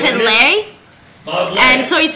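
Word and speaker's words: Bob Ley: Chris is saying that his grandpa's name was Bob Lee, but spelled L-E-Y, and you would pronounce it L-Lay. L-E-Y? Yeah, Yeah, and you would Lay, pronounce it wouldn't it? Lay. Bob Lay.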